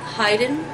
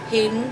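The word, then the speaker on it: Haydn: when Mozart made met heyen Hayden whichever way you want to pronounce it I've heard both ways um in Vienna in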